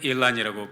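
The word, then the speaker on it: Elon: 이 소식이 태국 전역에 퍼졌을 뿐만 아니라 전 세계에 매스미디어를 통해서 SNS를 통해서 번져나가고 미국에 있는 일론 머스크, 미국 사람들 일란이라고 발음하더라고요.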